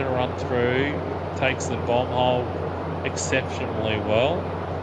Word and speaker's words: Bomb Hole: bomb hole exceptionally well I've actually pronounced that corner wrong a couple of times I actually call it the bung and uh The Bu hole right there you go definitely not a bung hole um someone awesome